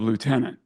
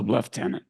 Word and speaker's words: lieutenant: Royal Navy rank of sub liutenant notice I didn't say Su leftenant guys I never did understand